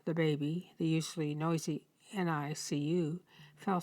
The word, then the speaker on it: NICU: care unit, the NICU, which staffers pronounce NICU.